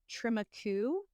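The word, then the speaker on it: Trem-y-Cwm: Tremaku, but it is spelled TREM dash capital Y dash CWM. CWM. Yes. So it's tram dash Y dash CWM.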